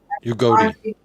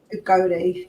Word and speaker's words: Udogie: Someone said how you pronounce it. Udogie. Udogie, yeah, Udogie.